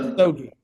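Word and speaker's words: Misogi: you know, Masogi. yeah, Wait, it's called the Musogi.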